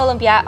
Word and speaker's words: Lumpia: Hi, aka Eats on YouTube, Instagram, TikTok, and today we're gonna be making Filipino lumpia with a V. So Filipino lumpia are spring rolls.